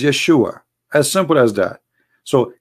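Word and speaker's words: ישוע: pronounce the correct word the correct word in the hebrew is yeshua as simple as that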